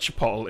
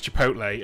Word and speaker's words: chipotle: Someone said it, and I was like, it's not chipotle, it's chipotle.